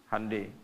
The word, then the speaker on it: Hyundai: Honda ya Korea bikin hundai Hyundai bacanya hundai kemudian sana masuk Piala